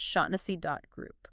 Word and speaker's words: Shaughnessy: Remember, that's pronounced Shaughnessy.group.